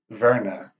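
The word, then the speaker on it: Werner: message for last name it sounds like Verna with a V but in German aw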